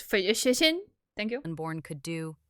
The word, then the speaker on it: phlogiston: Yet, when they later activated a phlogiston chisel, something only Natlan excuse me, it's pronounced phlogiston.